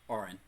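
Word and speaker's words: Auran: How do you pronounce the language of the air elementals? Orin.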